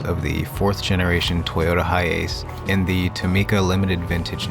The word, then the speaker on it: HiAce: I thought it was HiAce, like a Japanese pronunciation, but it's pronounced HiAce, and the USA is actually one of the only places in the world that it wasn't sold.